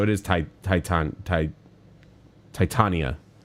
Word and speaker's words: Titania: is TI Titan tit Titania I don't know why I said titiana there's no I before the a I'm an idiot is